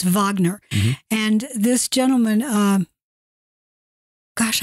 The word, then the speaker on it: Wagner: not familiar with them you may spell with a W so you may be pronouncing in a Wagner but it's Wagner and this gentleman uh